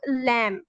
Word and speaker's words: lamb: इसी तरह बी, everyone, whenever b comes after m, so we do not pronounce b, for example lamb and calm।